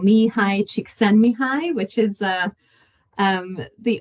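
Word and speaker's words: Csikszentmihalyi: surname is somebody said when you smile it sends your cheeks high so cheeks send me High um is how they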